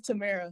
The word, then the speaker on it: Tamara: Is it Tamara or Tamara? It's Tamara. Tamara.